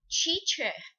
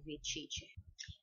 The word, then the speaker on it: teacher: parar dói muito teacher então para pronunciar a palavra Professor ou professora em inglês corretamente você deve para fazer o som do T colocar as ponta da sua língua atrás dos dentes da frente da boca esse Então seria algo